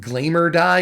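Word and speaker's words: Glamerdye: lately like i think glamour die is how you pronounce it from eventide that card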